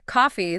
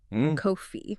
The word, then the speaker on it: coffee: Coffee, the drink, ends with an elongated, smiling E sound. Coffee.